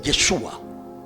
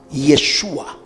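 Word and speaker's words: ישוע: El nombre hebreo de nuestro Señor, de nuestro maestro Jesús de Nazaret es Yeshua. Yeshua. Yeshua. Dígalo conmigo. Yeshua. Yeshua. ¿Cómo se escribe?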